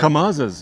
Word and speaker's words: Kamaz: Kamaz.